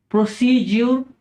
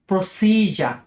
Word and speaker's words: procedure: আপনারা হয়তো অনেকে এই শব্দটিকে বলে থাকেন বা আমরা হয়তো বলে থাকি যে প্রসিডিউর বা প্রসিডিউর, যেটার মানে হচ্ছে পদ্ধতি বা প্রণালী। তো এই শব্দটির ব্রিটিশ উচ্চারণ হচ্ছে প্রসিজার, প্রসিজার।